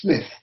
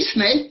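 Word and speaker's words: Psmith: called the name is smith p s m i t h p smith sir no no smith the p i should add for your guidance is silent as in psychiatrist or psychic the character of that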